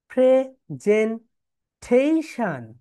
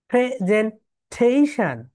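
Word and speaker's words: presentation: দেখো আমি যদি এখন দেখাই তোমাদের, দেখো ওরা এইভাবে উচ্চারণ করবে, প্রেজেন্টেশন। দেখো আমি যদি এটা প্লে করি, দেখো প্রেজেন্টেশন, প্রেজেন্টেশন।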